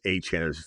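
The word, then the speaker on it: Achane: He says it's Achan. There's video footage of him saying Achan. Then he spells out Han like Devon Chan is a C h. So no, Silver is actually not. He actually did spell it out and sounded it out and made it perfectly clear that is it is Travis Achan just like Devon Chan exactly said exactly like that that's coming from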